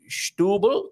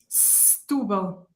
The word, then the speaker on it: Setúbal: Once and for all, Setúbal is Stubel to the locals, Mia? Stubel. Stubel. Okay, thank you very much for Sarah. Stubel so the sh does not happen.